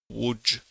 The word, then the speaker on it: Łódź: for the English-speaking listeners would be to start with the word would, and just instead of D at the end, I would add DGE. So Łódź should be probably the closest to the Polish pronunciation.